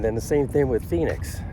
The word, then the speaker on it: Phoenix: P pom nx, but the ph is like an f sound.